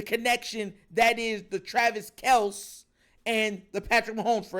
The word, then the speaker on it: Kelce: that is the Travis Kel and the Patrick Mahomes for everyone that doesn't know his act his actual name is not Kelsey it's Kel his it's just everyone kept getting his name wrong for years they just